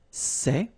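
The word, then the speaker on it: ces: same way all right for the plural form so masculine plural it would be say okay and then feminine plural good news it's the same so we've got one form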